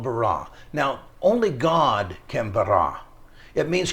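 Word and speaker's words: ברא: is an interesting word the word is called b-a-r-a and I'm not saying it correctly but you can you you get the gist of it it's called barah now only God it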